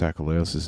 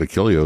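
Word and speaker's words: Achilleos: Well done on pronouncing Chris Akalos's name properly. Oh, lot of people didn't learn that until he died. That's true. I know. We didn't We all said Why we I always said Achilios.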